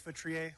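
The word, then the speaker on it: Feutrier: Hi, my name is Vitrier. Last name is spelled F as in Frank, E-U, T as in Tom, R-I-E-R.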